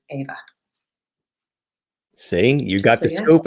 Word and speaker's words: Éabha: the sound a and the bh is the sound v so i decided i